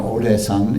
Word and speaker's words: Odaesan: Now Odaesan is the Korean pronunciation of Wutaishan, which is a mountain